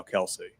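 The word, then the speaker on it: Kelce: Also, uh Travis and Jason Kelsey, their name's actually Kel. their dad apparently. Like, yeah, it's like his all of his family goes by Kelse, but he didn't care and everyone kept calling him Kelsey and it just stuck.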